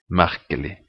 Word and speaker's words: merkelig: Vanlig, merkelig. The next is silent letter is the letter T in definite nouns.